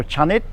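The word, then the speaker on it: ชนิด: and then Chang and you need to put in an implied vow after the first consonant so that's be a cha and then the the door deck as a final consonant is pronounced as a an unreleased T so chanet and chanet just means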